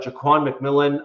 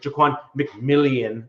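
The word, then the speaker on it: Ja'Quan McMillian: him back we got Jaan McMillan on a he's a cornerback he was our H starter nickel guy there um or sorry jquan McMillian apparently is how he likes it pronounced on a one-year deal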